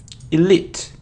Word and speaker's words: elite: an L it and it isn't elite its ear elite elite and the stress is on the second syllable it's also very important